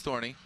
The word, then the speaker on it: Thorne: It's just pronounced Thorn, but you have an E at the end, so you like putting the Thorny in, yeah? Silent Thorn. Yeah, Scandinavian apparently, from Thor.